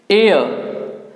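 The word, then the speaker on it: heir: और उसके बाद है एयर ह यहां पर साइलेंट है एयर और यह और भी आपका साइलेंस होगा ए और इसको बोलेंगे हम एयर एयर कहते हैं वारिस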